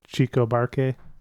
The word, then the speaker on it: Chico Buarque: Chico Buarque?